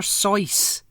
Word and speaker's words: Seuss: pretentious yeah it's almost as pretentious as dr sauces how the grinch stole christmas um no dr seuss off no no seriously that's how it's apparently according to his wikipedia page okay fine dr sauce right okay let me get over that i